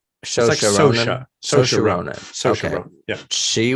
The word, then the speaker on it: Saoirse: It's a weird pronunciation because it's like Shosha. Saoirse Ronan.